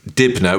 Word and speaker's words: Dibnah: He was a total legend, and his surname is Dibner, which is spelled Dibnah.